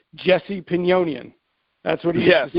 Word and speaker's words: Jesse Pinnonen: So we've established that it is a soft J. That's what it is. And I got the pronunciation of Jesse's name from Riccardo Magni, because when he was on the show, he used to say Jesse Pinnonen.